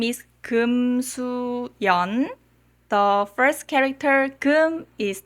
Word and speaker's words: Yeon: The first syllable is the family name, and the next 2 syllables are the given name. My Korean name is Yeon.